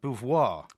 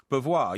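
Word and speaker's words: Beauvoir: Max Bvoir. Bvoir. Yeah. Max, you know, it's kind of a French pronunciation because he was in Haiti.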